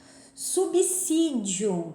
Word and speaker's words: subsídio: Subsídio, tem muita gente que fala subsídio, não é com som de Z, é de som de 2 S's.